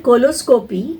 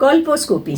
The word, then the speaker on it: colposcopy: has been trained in coloscopy coloscopy colposcopy sorry I'm very bad these pronunciations she's been trained in